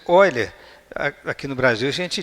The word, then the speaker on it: Euler: Essa pronúncia Oiler, aqui no Brasil a gente diz euler, né? Mas em alemão esse eu fala oi.